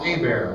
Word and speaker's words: Hebert: y le h-e-b ERT so it's spelled like he Birds pronounced a bear like a mares attacking Leo DiCaprio nightmare calm has my